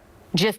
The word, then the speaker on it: GIF: Steve Wilhite, the creator of the GIF, has said it should be a soft G.